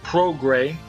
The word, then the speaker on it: Prograis: quarterfinal you got the number one see Regis pro gray as we discussed earlier is how we're going to pronounce the name so we're gonna say it